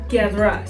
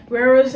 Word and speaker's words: Guerra: Guerra. Guerra means war, so that's my last name. It's my dad's last name. And so but Guerrera is fine. Guerrera is fine. But that's not how you say it. Learn how to say it. Learn how to roll your R's, people.